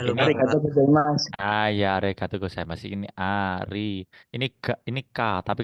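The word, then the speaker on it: ありがとうございます: Berarti bacanya to-nya panjang to. Ini ko karena ada ininya, ada teng-tengnya maka go. Jadi bacanya go. Ini sa karena ada teng-tengnya maka za. Ini i ma imatsu. Imatsu. Jadi bacanya arigato gozaimasu.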